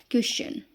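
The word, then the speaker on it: question: बाद यू आर इ आए तो टी का उच्चारण च होता है। देखिए ये कैसे है हमारा? जैसे ये हमारा आया क्वेश्चन।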